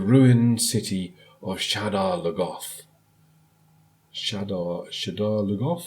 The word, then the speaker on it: Shadar Logoth: Shadar Logoth? I think that's how they're pronouncing it in the show, Shadar Logoth. Not how I pronounce it in my head, but there we go.